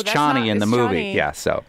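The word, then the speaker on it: Chani: long time I mean given how closely like Herbert wanted to use Arabic it definitely makes more sense as chny than Cheney anyway neither here nor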